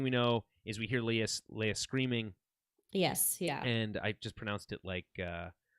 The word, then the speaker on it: Leia: But no, it's like next thing we know is we hear Leia screaming, Yes, yeah. and I just pronounced it like what's his name does in episode 4, Leah.